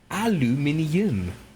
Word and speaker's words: aluminium: i get it yes in the british spelling it's e um it's actually got an extra i yeah uh of the gets he got there you go my guy aluminium i mean it is